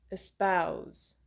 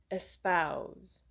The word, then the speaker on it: espouse: Espouse. Stress is on the ow, like mouse sound. Espouse.